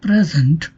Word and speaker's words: present: In the noun present, the word falls on the first syllable pre.